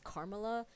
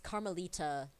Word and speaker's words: Carmelita: say it right because I first thought her name was Carmela and then I thought it was Camila. Yeah, it's Carmelita.